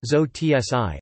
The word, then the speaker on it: Sozi: coined in response to the German term Sozi, pronounced Zo-tsi, an abbreviation of Sozialdemokrat, member of the Social Democratic Party of Germany.